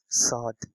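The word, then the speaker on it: ص: she actually it is sound sod but we have to stretch this stretch it like sword at the end we have to put a jerk sword the 81st it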